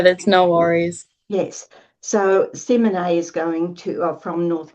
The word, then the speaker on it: Simone: Did I pronounce that properly, Simone? So it's Simone. So, oh, Simone.